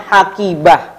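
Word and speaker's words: حقيبة: Ini bacanya gimana? Bacanya hakibah. Nah, jadi ta marbutah ini kita baca dengan huruf apa teman-teman? Huruf H ya, huruf H.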